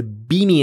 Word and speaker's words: BIMI: i wrote a quick post today about a beanie and i hope i pronounce it correctly it's an acronym b-i-m-i and